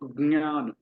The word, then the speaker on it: ज्ञान: तो ज्ञान, ज्ञान, ये भी अनुनासिक है, नेजल है, नाक की सहायता से उच्चारण किया जाता है।